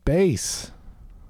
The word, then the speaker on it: Bass: And he's like, "It's pronounced bass."